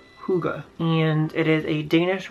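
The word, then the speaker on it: hygge: and it says this word right here is pronounced Kouga and it is a Danish word that basically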